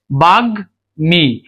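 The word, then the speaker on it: বাগ্মী: বাগ মি এ গর উচ্চারণ হবে।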